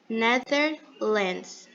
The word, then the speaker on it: Netherlands: Netherlands. O TH é aquela mesma pronúncia. A única coisa que muda é que ele vai ter um som um pouquinho do Z. Netherlands.